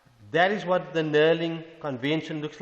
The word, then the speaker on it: knurling: go to the knurling the knurling with the silent k is this component here